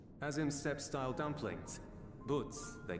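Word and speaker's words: buuz: Boots they call them. Boots. Ah, so that's how you pronounce it.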